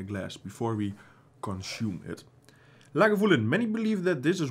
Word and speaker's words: Lagavulin: first legal distillery here at Lagavulin, pronounced Lagavulin. Lagavulin, okay. After the Gaelic Lagan Muhal, the hollow where the mill is.